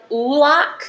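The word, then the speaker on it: Oulac: This is from Ulac, is how I think you pronounce it.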